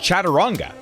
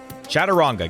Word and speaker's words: Chaturanga: I think that's how it's pronounced, Chaturanga. Chaturanga.